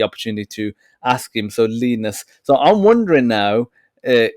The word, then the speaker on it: Linus: name because you know I was pronouncing it Linus access and I'll ask you how you pronounce it he said leanness so where are are